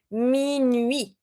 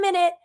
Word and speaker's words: minuit: example, like in 10 minutes, you're going to say 10 minutes. This is not minute. To say midnight, we say minuit. So we don't pronounce the T, but we do pronounce the two vowels.